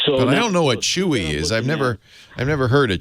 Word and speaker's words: Chuwi: Spell it for me. CHUWI. WI. Chewy.